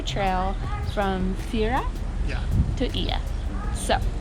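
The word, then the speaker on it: Oia: It's spelled O-I, but it's pronounced Ia.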